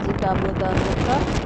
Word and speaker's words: Cabo da Roca: बहुत मेहनत से मैंने आपको काबोदा रोका, इसे कहते हैं रोका। असल में RH प्रोनाउंस करते हैं, काबोदा रोका कहते हैं जी। वैसे अगर इंग्लिश में हम पढ़ें तो काबोदा रोका पढ़ेंगे, ठीक है।